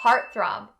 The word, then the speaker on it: heartthrob: For this word, make sure that the R sound is clearly enunciated. Har. The next thing that we're going to do is stop the T sound in heart. In one of the previous part 2 videos, we talked about how to stop the T sound, making it really quick.